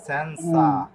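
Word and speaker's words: senza: কেন এখানে দেখুন যদি ভারব সরি শব্দের শেষে যদি এনসা থাকে এনসা আসা ইসা ওয়াসা সিয়ারে সিওনে এরকম থাকলে তাহলে জেট অক্ষরের উচ্চারণ কি হয় ছ এর মত হয় তাহলে এটা হবে সেন্সা টেম্পো কে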